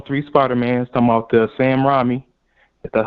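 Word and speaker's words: Sam Raimi: to see all three Spider-Man talk about there Sam Ramy that's how you say it Sam Ramy or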